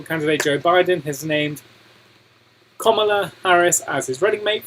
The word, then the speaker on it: Kamala: She said that it said like the punctuation mark comma, and then la. Kamala.